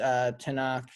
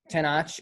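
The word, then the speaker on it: Tenoch: the two main characters, Tanakh and I pronounced that so wrong. And I'm what is it? It's Tenach. Tanach.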